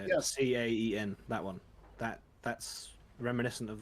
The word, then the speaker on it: Caen: Caen.